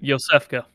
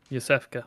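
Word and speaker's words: Iosefka: ] name is later yosefka thank you so you literally just said and i can't pronounce it uh try like it's more of a y sound than anything yosefka small lady waits ahead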